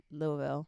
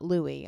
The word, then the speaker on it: Louisville: to say it and they said Louisville Louisville Louisville Louisville yeah not Louis I was saying I say